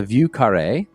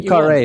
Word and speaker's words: Vieux Carré: It's called a Vieux Carré. Although the French would probably cringe at my pronunciation.